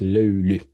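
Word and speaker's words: löyly: So it's not that easy to uh pronounce it, but that's that's how you how you supposed to uh say it. Lulu lulu.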